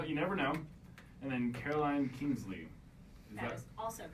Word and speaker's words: Caroline Kingsley: And then Caroline Kingsley.